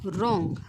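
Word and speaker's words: wrong: शब्द आहे तो काय आहे बघा तो आहे रॉंग काय आहे बघा रॉंग आणि ह्याच जे काही प्रोनन्सिएशन आहे ते काय आहे बघा रॉंग रॉंग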